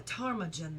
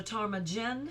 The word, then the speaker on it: ptarmigan: Oh, a ptarmigan then. Is it a ptarmigan I said organ. or ptarmigan or ptarmigan? Wait, listen. All right, let me keep going. Ptarmigan. Ptarmigan. Ptarmigan. So the P is silent.